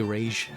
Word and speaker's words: Ra's al Ghul: They did that with Batman, by the way, with Ra's al Ghul. It's actually Rage, and they try to literally teach everybody how to pronounce it.